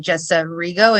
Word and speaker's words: Jessa Rigo: you guys very much that is the correct way to say my name thank you um i